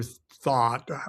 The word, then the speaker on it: Thoth: the Book of Thoth, Crowley's Book of Thoth, or Thought. However, there is no correct pronunciation.